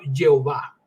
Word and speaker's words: Jehová: Media trajo confusión porque trataron de pronunciarlo siguiendo las vocales de Adonai incrustadas en el nombre de yahvé y pronuncia esto por supuesto Jehová verdad Jehová es Jehová entonces ahí viene la